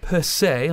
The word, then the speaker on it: Percé: And during the summer of 2006, the mayor of Percé, I believe, am I pronouncing that correct?